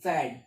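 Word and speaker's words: Pferd: अब पी से है तो कैसे प्रोनाउंस करो, तो पी यहाँ पर हमने साइलेंट कर दिया है। और एफ से साउंड है FERD, फैड। और फैड मतलब क्या आता है, हॉर्स, घोड़ा।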